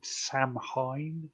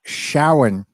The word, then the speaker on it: Samhain: most people call it Sam Hain, but it's not a Shawan.